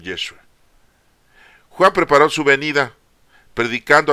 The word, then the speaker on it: Yeshua: o sea Jesús yeshua su verdadero la verdadera pronunciación yeshua Juan preparó su venida predicando a todo el